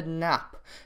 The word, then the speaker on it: Knapp: It's against a guy called Luka Knapp. Silent K, but yeah, I think that's how you say his name.